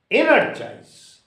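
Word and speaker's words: energise: first syllable organized similarly energize e n e r g i s e energize it is also R3 syllabic word or trisyllabic word so that sense should be on e energize in a joys in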